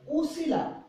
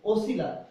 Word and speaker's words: ওসিলা: আচ্ছা, আরেকটা দেখো, দেখেন ওছিলা, ওছিলা, এখন আমি যদি উচ্চারণ করতে যাই উসিলা, কিন্তু আমি উচ্চারণ কি করছি ওসিলা, এই উচ্চারণটাকে প্রাধান্য দিয়ে ও করেছে এবং এটা হয়ে গেছে ওসিলা।